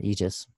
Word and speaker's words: aegis: spear she wears medusa's head on her aegis pronounced aegis so medusa is one of those figures again